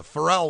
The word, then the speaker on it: Pharrell: also this song features frell Williams or is it farell I'll probably pronounce it right is it farell farell that's what he say all right so farell Williams on this track